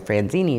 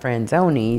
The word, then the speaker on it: Franzoni: Of course, I always called you Franzini, not Franzoni.